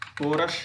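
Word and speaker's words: chorus: जैसे राइम आ जा रहा है, राइदम है, इको है, अगास्ट है, गोल है, गैस्टली है, कोरश है, इसमें एच का उच्चारण नहीं हो रहा है, साइलेंट माना गया है।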